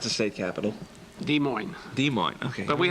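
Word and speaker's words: Des Moines: Storm Lake by the way how do you pronounce the state capital de Mo de Mo okay but we have a problem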